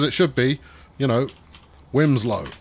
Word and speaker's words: Wilmslow: whatever this is, Bromyard Wimslow. I know you think it's pronounced Wilmslow, but people who live there will let you know quite quickly that Wimslow is how they prefer to pronounce it.